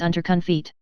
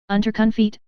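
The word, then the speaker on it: Unterkunft: shelter Pierre repeated the German for shelter is under conit how do you say it the captain asked quickly and doubtfully UNC feet Pierre repeated onun cough said the captain and looked at Pierre for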